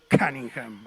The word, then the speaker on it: Cunningham: quiero meter la pata si se escribe cuningham y él me dijo es cunningham así con ese inglés que tiene glenn cunningham fue